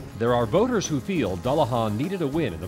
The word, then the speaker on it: Dullahan: Duan Duan get there the correct pronunciation is dullahan now having said that